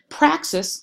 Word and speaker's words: praxis: in Chapter one but praxis sounds like the word practice and honestly I can't